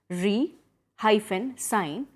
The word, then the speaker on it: re-sign: this sign is pronounced the S is pronounced as s only and you emphasize the first syllable for example I love